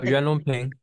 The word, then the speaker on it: Yuan Longping: Yuan Longping. Yeah, Yeah. I just pronounced it wrong.